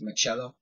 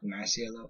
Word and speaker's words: Masiello: And who told me that I pronounced my last name wrong? It's Machello, not Masiello.